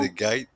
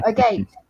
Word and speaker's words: agate: a gate there, Rex. Well, agate. It's agate. It's agate Y'all over fight here. about it. Y'all fight about it. It's one of those weird pronunciation things.